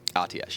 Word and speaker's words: Atiesh: Is that how you pronounce it? Atiesh, yeah.